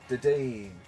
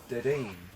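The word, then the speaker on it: Dedenne: Dedeen. Dedeen.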